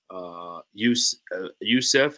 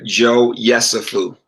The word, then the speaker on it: Yesufu: Youssef, is that how you say it? Yeah, Joe Yesufu.